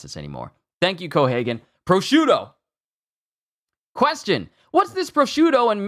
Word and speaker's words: prosciutto: it here we go prosciutto I've been saying it wrong this whole time it's so simple it's three syllables I thought it was